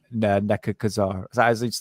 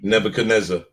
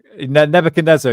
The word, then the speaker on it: Nebuchadnezzar: Babylon he wanted to rebuild Babylon like the neb Kazar wanted to do in fact Sadam thought he was the actual Reincarnation of nek Kazar his name I can't say his name Nebuchadnezzar Nebuchadnezzar yes thank you yeah so Saddam Hussein thought